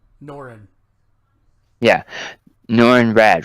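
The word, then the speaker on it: Norrin: I know I'm gonna mispronounce it, Mark. Noran? Norin.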